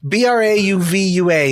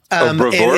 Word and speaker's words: bravura: BRAUVUA. It's something like that. Bravura? It's this. Is that how it's pronounced?